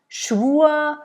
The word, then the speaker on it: Schwur: Mutter, and again, der, Mutter, der, Schwur, it almost is like a slight A at the end that you add to the vowel that precedes the R.